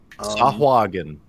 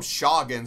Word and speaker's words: Sahuagin: Sahuagin is the official pronunciation from the 1985 comic release Dragon. I call him Shoggin, so I'm very wrong.